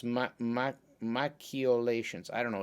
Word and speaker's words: machicolation: english uh but in in italian it's it's pronounced ki or ke so it's ma macchiolations i don't know it's